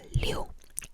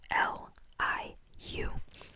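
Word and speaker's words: 六: But anyways, 6 is liu, L-I-U, liu, liu, liu, liu, liu, liu, liu, liu, liu.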